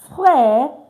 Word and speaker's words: frère: So you can see now, I said frère, not frère. Why? Because this E is also not pronounced at the end of a word most times in French. All right?